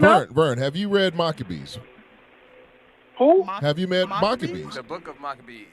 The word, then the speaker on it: Maccabees: in American we pronounce it the Book of Maccabees.